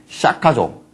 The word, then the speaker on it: 샤카: 2631년 전에, 인도에서 태어나신, 인도의 샤카족, 스카족이에요. 우리가 한문으로 할 때 그냥 스카모니 그러잖아요. 그죠? 그 이제 범어 발음으로 샤카예요.